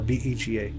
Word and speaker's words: Vega: Say it like I'm saying say it Vega v e g a Vega.